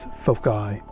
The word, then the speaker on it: foci: And by the way, as far as things goes, since we're dealing with two focal points, the right way to say it is foci, and that's F-O-C-I.